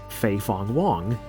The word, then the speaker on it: Fei Fong Wong: People actually thought that this was, I believe his name is pronounced Fei Fong Wong, a character from Xenogears.